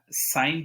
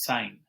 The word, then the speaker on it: sine: so what is uh sine theta what is uh sine theta i am writing s i n but don't pronounce it as sin it is sine okay because the spelling